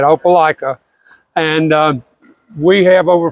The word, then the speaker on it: Opelika: I'm the president of the opica pickleball Club yeah that's how you say it opala and um we have